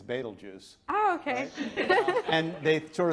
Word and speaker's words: Betelgeuse: And so many Americans pronounce it as Beetlejuice when it's Betelgeuse.